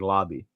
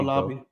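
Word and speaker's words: Laube: go see Bey says you pronounce his last name like Lobby okay there oh Lobby there you go so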